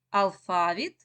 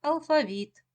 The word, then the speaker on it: алфавіт: вірно це слово алфавіт Зверніть увагу що у цьому слові подвійний наголос це означає що можна вимовляти слово як алфавіт і як алфавіт у цього слова є